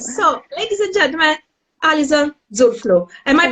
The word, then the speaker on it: Zurfluh: So, ladies and gentlemen, Allison Zurfluh. Am I pronouncing it right? Yeah, Zurfluh.